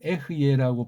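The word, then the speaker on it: אהיה: 아무튼 아포칼립시스라는 계시라는 낱말을 예수스 그리스도스를 중심으로 설명하는데 구약에 전제되어 있는 이런 말을 쓴 사실을 에고에이미 이걸 구약 히브리어 구약 에베르말로 하게 되면 에흐예라고 발음해야 돼요. 에흐예 이게 또 이제 한글로 하는 거랑 정음으로 하는 거랑 또 발음이 하늘과 땅 차이 나요.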